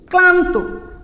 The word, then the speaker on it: ক্লান্ত: লফলা শব্দের আদিতে থাকলে এর উচ্চারণ কি লিখছি, লফলা শব্দের আদিতে থাকলে এর উচ্চারণ অবিকৃত থাকে। যেমন আমি একটা শব্দ লিখি, ক্লান্ত।